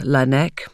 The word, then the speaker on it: Laennec: His surname comes from the Breton word Laennec, which means scientist or expert, but is roughly pronounced Laennec, which hints at where the device is most often kept.